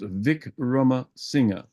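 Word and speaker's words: Wickramasinghe: but it's called pronounced Vic Roma singer you pronounce the last vowel and so I I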